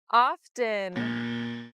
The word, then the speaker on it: often: this is wrong too silence these letters sh often often wait it's correct to say often and